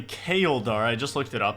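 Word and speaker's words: Chaeldar: So the way you pronounce this Slayer Master's name is apparently Kaeldar.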